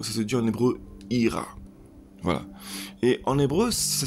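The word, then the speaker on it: יראה: par le mot ça se dit en hébreu ira voilà et en hébreu ça s'écrit avec la lettre avec les lettres pardon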